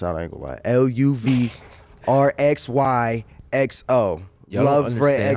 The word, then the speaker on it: LUVRXYXO: It's LUVRXYXO. LUVRXYXO.